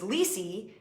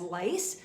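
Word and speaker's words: Liese: maiden name and um my maiden name was lisy and uh it's spelled l IES e and that um got mispronounced a lot as lice so early on in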